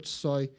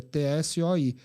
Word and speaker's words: Tsoi: T-O-R, e Tsoi é T-S-O-I. É como se fosse o nosso Choi aqui, né? Só que na pronúncia russa fica o Tsoi, né?